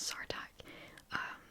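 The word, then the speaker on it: Sartaq: I've been saying his name wrong, his name's Sartak.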